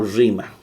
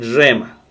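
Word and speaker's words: ῥῆμα: Y esto rema o rima. En la pronunciación de Erasmo de Rotterdam es rema.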